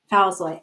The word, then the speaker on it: Falzoi: I'm thrilled to be joined today by. Am I pronouncing your name right? Yeah. Yep. Thousoy.